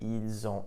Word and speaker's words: ils ont: You'll also notice that when I pronounced it, ils ont, elles ont, the S in il, elle, which is normally silent, was actually pronounced, and I pronounced it like a Z.